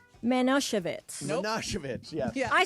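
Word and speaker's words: Manischewitz: it yesterday ly said manosevitz manich yes I said I didn't realize that the emphasis would be on the Chev so you want to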